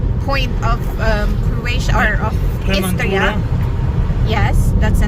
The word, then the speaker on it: Istria: are heading now to the southest point of the federal state of Istria. I don't know if I'm pronouncing that right.